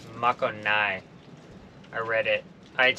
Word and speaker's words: Makogai: from I found out the real way to pronounce the name of this island it's Mako Nai I read it I had saved some information and then it gave the pronunciation so makanai Island hopefully I'll say it right from here